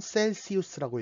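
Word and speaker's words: Celsius: 자, 우리가 흔히 쓰는 섭씨는 C라는 알파벳으로 표현하는데 영단어로는 셀시우스라고 읽어요.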